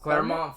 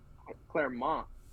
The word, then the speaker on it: Clermont: Ninth, I got Clement, or how do you say that? one? The Clement, Claremont Foot. Clem, Clermont. There you go.